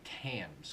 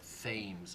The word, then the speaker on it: Thames: I say Thames because it's spelled like the river Thames in England, but Thames, I think, is how it's more commonly pronounced than how he pronounces it.